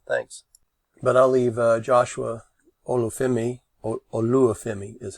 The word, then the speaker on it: Olufemi: But I'll leave Joshua Olufemi is how it's pronounced. Olufemi.